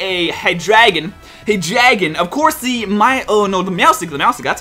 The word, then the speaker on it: Meowstic: Hydreigon, of course, the Meowstic, that's how you say his name.